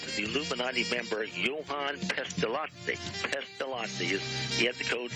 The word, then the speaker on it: Pestalozzi: Pestalozzi, the end is L-O-Z-Z-I, and it's the Swiss. Switzerland borders Italy, and it's an Italian name, but it's Pestalozzi. It's pronounced like a T, L-O-T-Z-I, Pestalozzi, but it's actually two Z's. That's just the way the Italians pronounce that type of syllable.